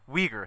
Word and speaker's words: Uyghur: Let me know if I mispronounce this. Uyghur? Uyghur. Uyghur, thank you.